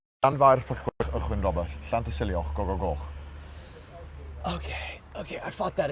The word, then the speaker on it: Llanfairpwllgwyngyll: It's pronounced. Llanfairpwllgwyngyll, Llanfairpwllgwyngyll.